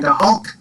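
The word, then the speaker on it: go holc: Tá mé go hulk. So, yep. Tá mé go hulk. Go hulk. Tá mé go hulk. I'm doing badly. Hulk. You think of the Hulk. Yeah, that sounds Hulk.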